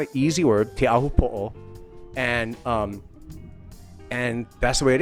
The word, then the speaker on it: Teahupo'o: So it's going to be a little of a challenge, because it's not an easy word, Teahupo'o.